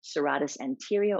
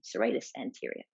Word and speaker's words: serratus anterior: at the rhomboids and serratus anterior or depending on your pronunciation serratus anterior so let's look at